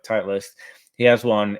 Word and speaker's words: Titleist: I don't know how you pronounce it. Titleist, yeah. Like Titleist.